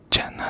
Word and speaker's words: Zena: It's spelled like Zena, Z-E-N-A, but the Z in Korean, when you see a Korean name romanized into English letters that is spelled the Z, they pronounce it like a J, but it was Jenna.